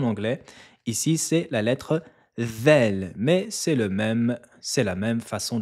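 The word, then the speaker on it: ذال: La lettre Vel se prononce avec le bout de la langue et elle doit toucher l'extrémité des incisives supérieures. Vous devez sortir la langue et la poser sur les dents du haut. La langue va ressortir légèrement entre les dents.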